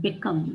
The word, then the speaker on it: become: For example, in the word become, the stress syllable is come.